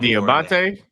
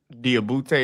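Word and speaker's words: Diabaté: We're going diabate. Yeah, that's what I said. Diabete and Diabate are two different things. That's how they pronounce his name in this country.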